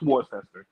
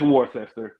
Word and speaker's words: Worcester: Name Worcester for all the people that are trying to read it and don't know how to pronounce it. It's Worcester if you Or need to Esther.